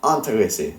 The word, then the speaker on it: intéressés: Nous sommes intéressés, not in.